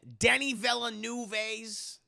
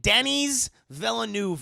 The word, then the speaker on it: Denis Villeneuve: How many of you have seen Denis Villeneuve's, I think that's how you say his name. If not, I'm going to call him what his mama named him, chat. She named him Denis Villeneuve, okay?